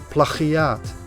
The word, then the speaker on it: plagiaat: In Dutch it's pronounced plagiaat. Try to pronounce that with a hard G in it.